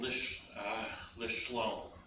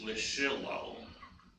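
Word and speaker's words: לשלום: The Shavah is there, but it has no sound. When I was younger and they didn't grasp this, I used to want to call this Lishilom.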